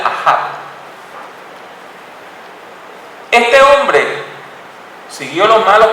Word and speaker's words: Ahab: al reinado de un rey llamado Acab, aunque en hebreo se pronuncia Ahab.